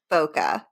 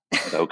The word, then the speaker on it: bokeh: Does any photographer actually know how to pronounce that? Bokeh. Bokeh.